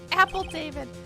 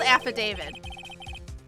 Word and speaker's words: affidavit: equipment lost power because apple david it's called affidavit or at least that's how it's pronounced it that i've heard precisely they lost power